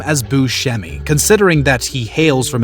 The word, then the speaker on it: Buscemi: many dentists have offered to help him out Buscemi has purposely declined knowing the impact it could